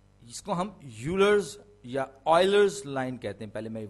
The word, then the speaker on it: Euler: ان کو ہم local medium والے یولر کہتے ہیں، لیکن زیادہ صحیح تلفظ اس کا آئلر ہے، EULER آئلر لائن.